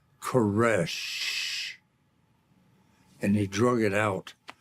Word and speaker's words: Koresh: He said, then you know how to pronounce my name. He said, it's like that last breath, the death knell. It's Koresh.